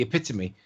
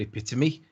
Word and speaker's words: epitome: the other one the epitome the fact that he doesn't know how to pronounce the word it bit to me is the epitome of stupid it is